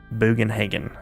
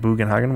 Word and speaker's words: Bugenhagen: I don't know how to pronounce it. Bugenhagen is how I pronounce it.